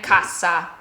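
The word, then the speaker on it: cassa: When you have a double letter, our first trick is to hold the consonant slightly longer. Just hold it a little longer. Okay. So here we have kaza and kasa. Kaza kasa. I'm just holding it a little bit longer. And two totally separate words.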